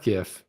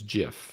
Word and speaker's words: GIF: right now it's not gif it's jif like the peanut butter it's jif it's not gif people that say gif it's wrong and if you want